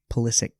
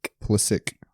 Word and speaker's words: Pulisic: actually I thought about wearing my uh Christian pulisic Jersey but um decided against it um so